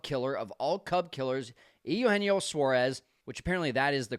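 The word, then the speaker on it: Eugenio Suárez: He gives up a third pitch grand slam to the biggest Cub killer of all Cub killers, Eugenio Suarez, which apparently that is the correct way to pronounce it.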